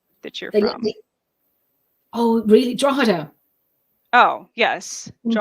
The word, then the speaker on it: Drogheda: based in trohida y'all the way it's spelled I listened so many people are saying georgita I was gonna say I I want to say like drog Hita yeah you know um